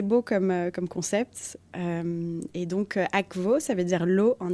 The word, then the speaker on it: Akvo: Je veux dire, c'est censé se dire comme en italien tu dis acqua. C'est pas aqua, c'est aqua. Donc théoriquement on est censé dire Akvo, mais bon, Akvo, c'est ça,